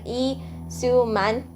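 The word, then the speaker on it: Lee Soo-man: entertainment in 1995 okay the way you actually pronounce his name is like e su man I have a really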